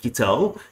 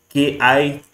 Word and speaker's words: Kittl: I'm sure that's how to pronounce it. Kittl, Kittl.